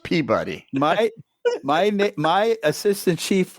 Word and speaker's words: Peabody: years I have a copy of that it's Peabody it's Peabody not puberty no it's it is not pronounced puberty it's pronounced peab buddy my my my assistant chief was from there